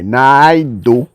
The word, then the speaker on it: Naidu: Uma Nadu, I'm pronouncing the I, Naidu, a nutritional psychiatrist at Harvard Medical School, has a great acronym for a brain foods.